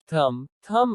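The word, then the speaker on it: thumb: B is silent after M or before T. जब B M के बाद या T के पहले आता है तो B का उच्चारण नहीं होता। कोम कंघी। थम अंगूठा।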